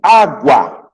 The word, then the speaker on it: água: Água, água. Então, o U é pronunciado.